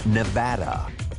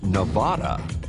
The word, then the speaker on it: Nevada: time for the record the correct pronunciation according to State residents is Nevada if you say Nevada well you're probably from the eastern half of the country forget about accents